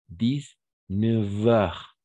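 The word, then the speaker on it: dix-neuf heures: mais on doit imaginer on va prononcer que c'est un V 10 9 heures d'accord 19h voilà c'est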